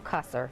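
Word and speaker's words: Qasr: And of course, that city on the way to Bazra, um Kaser is how you pronounce that.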